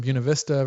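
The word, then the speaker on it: Buena Vista: We've got uh Uncle Voodoo chiming in from Buunav Vista, Virginia. That's the correct pronunciation, by the way, folks.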